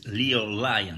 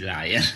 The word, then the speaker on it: Lyon: Yes, it's LYON. As Lion is the family comes from Scotland, of Lord and Lady Slatmore, the famous castle of Glamis. So the pronunciation is obviously Lion.